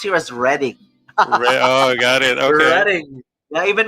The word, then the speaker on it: Reading: know uh it's spelled as reading but it's pronounced here as reading oh got it yeah even metallica you know